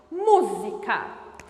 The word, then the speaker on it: música: penúltima sílaba antepenúltima sílaba chame a palavra música humu é tônico então é uma proparoxítona tem que receber acento